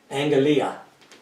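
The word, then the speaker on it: ἀγγελία: It's pronounced like an NG. Angelia.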